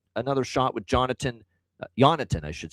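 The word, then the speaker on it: Jonatan: And I like another shot with Jonathan Jonathan, I should say. The J is silent. He corrected everybody with the pronunciation. He made sure this is a request from Berggren that he be called Jonathan recently.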